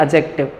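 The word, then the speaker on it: adjective: ए और जे के बीच में अगर डी आ जाता है तो ये साइलेंट रहता है। कैसा रहता है? ये साइलेंट। उसमें डी को बोला नहीं जाता।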